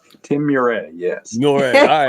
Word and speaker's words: Meuret: Tim Meuret, yes.